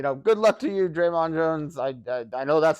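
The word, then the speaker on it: Dre'Mont: was uh uh uh Draymond Jones Draymond okay because I don't think the t is pronounced it's not Draymond or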